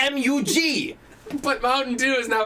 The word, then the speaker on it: Mug: this guy's it's not it's not mug root beer it's MU G root beer you've been saying it